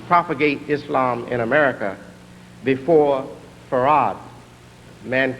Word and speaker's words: Fard: Fard Muhammad. This man is called Fard spelled in the encyclopedia F A R D but pronounced F A R A D.